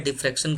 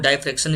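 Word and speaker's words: diffraction: वो interference interference and डाइफ डाइफ क्शन कहिए या डिफ्रेक्शन कहिए कई लोग डाइफ क्शन इसको बोलते हैं कई लोग डिफ्रेक्शन प्रोनाउंस करते हैं तो इन दोनों फेनोमेन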